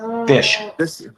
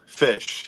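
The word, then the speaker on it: Phish: stoked to have this record how do you pronounce the name of that band fish fish yes oh it's called or fish you could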